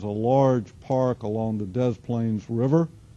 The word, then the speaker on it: Des Plaines: And if we were to zoom in on this, we would see this is a large park along the Des Plaines River. It's actually how it's pronounced.